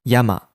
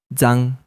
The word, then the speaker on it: 山: Have you noticed that the kanji yama is pronounced differently in different words? We have learned that this kanji pronounced yama in Yamada, the popular surname in Japan. Here, it is pronounced zan. But why does this kanji sound like yama in one word and zan in another?